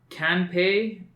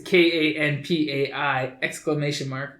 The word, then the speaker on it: Kanpai: It's Kanpei, I think Kanpei-Con. I'm offended that you didn't pronounce that perfectly. Yeah, right. I know. It's KANPAI !